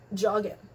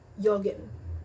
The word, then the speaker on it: joggen: Letter J is pronounced as Y, so don't go up to your German friends and be jeder get geht jetzt joggen. No, jeder geht jetzt joggen.